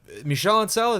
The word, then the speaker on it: Michel Ancel: the video roll up, and it's Michel Ancel. Is that how you pronounce his name?